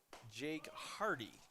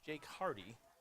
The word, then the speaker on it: Jake Hardy: So we got a pronunciation correction for us, so I apologize. It is Jake Hardy. It's Jake Hardy. We've been pronouncing that wrong, so we apologize, and we'll get that corrected.